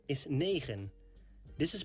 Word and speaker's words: negen: 9 is negen. This is pronounced like nee and gen. Negen. Negen. 10 in Dutch is tien.